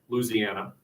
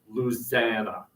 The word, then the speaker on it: Louisiana: and scope or specifically Louisiana remember you eliminate the syllable it's not Louisiana its Lucena South Carolina South Carolina but